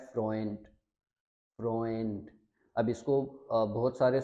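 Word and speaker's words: Freund: ए ऊ को हमने पढ़ना है ओए, तो इसको हम पढ़ेंगे फ्रोएंट, फ्रोएंट।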